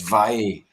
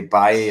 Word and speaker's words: Valle: He was like, "It's Valle. You're no Spanish. You can't say Bailly."